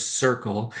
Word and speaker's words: Curql: A lot of people pronounce it Curql, but it is Curql.